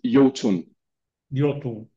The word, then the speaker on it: IOTUNN: do you say uh we say just uh you Yun okay yeah yeah okay